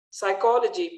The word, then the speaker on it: psychology: Psychology, P silent.